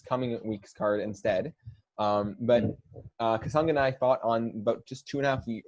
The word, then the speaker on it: Kasanganay: I think you did a good job with that pronunciation. Yeah, it's Kasanganay.